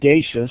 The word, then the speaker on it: Dachos: my name is deja sand everyone mispronounces my name it's spelled like nachos but it's like bodacious but thanks so much